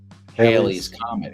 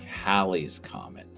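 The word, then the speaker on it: Halley's Comet: They're like Haley's Comet. Haley's Comet. It's technically Hal's Comet. That's the correct name is Hal's Comet. Most people say Haley's comet, but Haley has a better ring to it.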